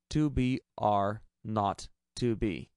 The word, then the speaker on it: 2 B R 0 2 B: The 0 on the telephone number he pronounced not. The number was 2BR not 2B.